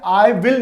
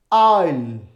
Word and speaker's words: I'll: अब अगर ये लिखा हुआ है, ये लिखा है, तो हम इसे आई विल नहीं पढ़ेंगे, हम इसे पढ़ेंगे आइल, आइल, आइल।